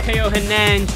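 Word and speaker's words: Theo Hernández: I want you in my squad, Teo Hernandez.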